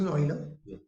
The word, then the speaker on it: Euler: The letter E was chosen to honor Leonhard Euler, pronounced Euler, who first discovered E and investigated its property in the 1700s.